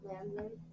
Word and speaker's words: lambdoid: Spell it. Yeah, Lambdoid. Lambdoid.